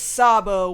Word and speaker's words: Sabo: soft yeah so that's the Japanese pronunciation is with an S so it was incorrect in part one in episode 50.